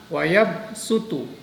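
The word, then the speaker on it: وَيَبْسُطُ: Ini tertulis huruf shad. Tetapi membacanya diganti dengan huruf sin. Nah ini. Wallahu yaqbidu wa yabsutu wa ilaihi turja'un. Nah, kalau wayabsutu, kalau shad itu termasuk huruf yang itbaq. Jadi yang ketika membaca agak manyun. Yabsutu, sutu. Tetapi karena ini badal diganti menjadi huruf sin, maka harus senyum.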